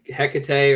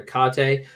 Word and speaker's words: Hecate: My life is Ray, So I noticed that you pronounced it Hecate. Any other variations you want to throw out there? I don't really care how people say it. They can say Hecate or Hecate.